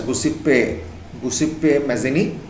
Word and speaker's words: Giuseppe Mazzini: It's pronounced as Giuseppe Mazzini, and he's from Italy, Italian.